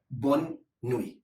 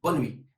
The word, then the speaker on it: bonne nuit: want to say good night, the word is bonne nuit. Bonne nuit. So how you pronounce quickly is bonne nuit.